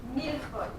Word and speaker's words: millefeuille: Millefeuille. Everybody say it. Almost like milk for you. Mil is like in Spanish, it's a thousand.